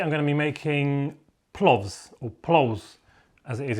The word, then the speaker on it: plovs: going to be making plovs or plows as it is in latvian um latvian alphabet the v is a very soft hardly pronounced sound as but in english